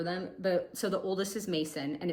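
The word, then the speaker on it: Macon: So the oldest is Mason and it's spelled M-A-C-O-N.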